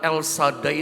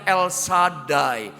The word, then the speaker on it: El Shaddai: Makanya dalam akar kata El Shaddai, jadi bacanya El Shaddai, bukan El Shaddai. Kebanyakan kita salah-salah El Shaddai. Yang betul adalah El Shaddai.